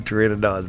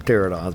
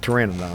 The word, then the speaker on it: Pteranodon: I just lost 2 Pteranodons back to back. I call them pterodons, but Pteranodons is what they really called.